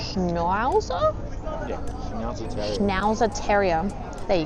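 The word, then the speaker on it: Schnauzer: Schnowzer Terrier.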